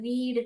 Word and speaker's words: read: समझाने के लिए य रीड करके य लिखती हूं ताकि आपको समझ में आ कि मैंने यहां पर ई पढ़ा है और यहां पे रेड ऐसे प्रोनाउंस आ रहा है आई रेड अ बुक